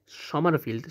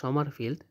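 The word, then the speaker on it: Sommerfeld: করা হয় বিজ্ঞানী সমরফিল্ড সমারফিল্ড সমারফিল্ড সমরফিল্ড না উচ্চারণ হবে সমারফিল্ড সমারফিল্ড বাংলা উচ্চারণ সমারফিল্ড সহকারী কোয়ান্টাম সংজ্ঞা সম্বন্ধে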